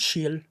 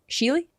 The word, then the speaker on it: Schiele: It's Shiel. Sheely?